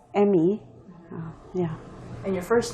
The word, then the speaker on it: Emi: yeah i go by my last name it's emmy yeah and your first name is uh